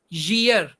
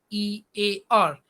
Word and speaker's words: year: we pronounce it rain another word year y e a r and majority of the students are pronouncing ear another word is d